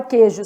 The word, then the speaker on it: queijo: Então, na palavra queijo, 6 letras, 5 fonemas. Há dígrafo, porque o U não é pronunciado, o U é nulo.